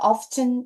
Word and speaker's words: often: 자, often 또는 often. 자, 영국식 발음으로 oft튼 이렇게 읽으셔도 돼요.